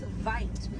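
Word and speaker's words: wyd: Original word for white rhino was vite. Vite means wide in Afrikaans, but over time it was misheard and mispronounced and it turned into the white rhino.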